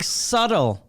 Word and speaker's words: subtle: Like subtle Yeah.